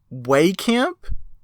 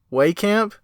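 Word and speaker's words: Wehkamp: camp wait a second wait camp have I been pronouncing it wrong this entire time well cap way camp ah man you might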